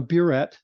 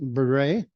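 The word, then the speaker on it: burette: calibrated in milliliters and that is called a buet or some of my students pronounce it Beret um and its purpose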